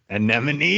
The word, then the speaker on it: anemone: anemone?